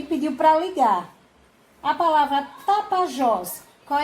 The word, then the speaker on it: Tapajós: Então, no caso de Tapajós, a sílaba tônica é Jós, que como ela está na última sílaba, ela é chamada de oxítona.